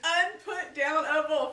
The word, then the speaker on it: Unputdownable: Unputdownable, 5 syllables.